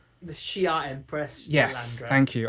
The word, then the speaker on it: Shi'ar: The Shi'ar Empress.